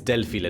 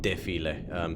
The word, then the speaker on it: Delphile: I think I spell it's Delphile, not Defile.